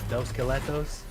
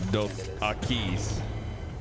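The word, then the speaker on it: Dos Equis: You got dos skeletos? That's not how you say it in Spanish. It's dos akis.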